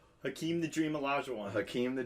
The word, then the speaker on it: Hakeem: He's called the Dream because it rhymes with his first name. Hakeem the Dream Olajuwon.